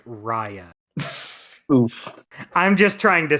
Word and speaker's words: Raya: Raya was the big one. Everyone was fucking pissed off about that. Mm-hmm. Mm-hmm. Hey Kyle, not to sound like a dickwad here, but it's actually pronounced Raya.